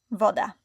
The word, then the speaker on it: woda: And the letter W, V, it sounds like W in water. Woda.